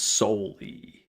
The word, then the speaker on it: solely: So, you don't pronounce the second L. That's solely like there's no reason to have the second L in there.